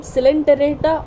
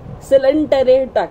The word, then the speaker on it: Coelenterata: In this video, I'm going to discuss about another very important phylum of the animal kingdom, that is Phylum Coelenterata or Cnidaria.